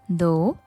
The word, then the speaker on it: though: මේ වචන තුනේම spellings GH වලින් ඉවර වුණත් pronounce කරනකොට GH එක silent. though, although, even though.